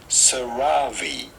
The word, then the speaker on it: CeraVe: How do you pronounce Cerave? From this brand, Cerave.